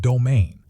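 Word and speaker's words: demesne: The domain pronounced domain, land reserved for the lord's use.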